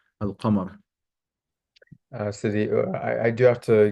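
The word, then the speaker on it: القمر: of the sun, and why it's pronounced in the moon, al-qamar.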